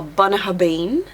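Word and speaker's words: Bunnahabhain: you could have a bnah habin bab so that's one of the examples where a b and a h does make a v yeah so for B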